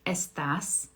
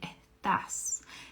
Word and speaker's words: estás: But in Argentina, they don't really pronounce that S very strong, right? They say estás, estás.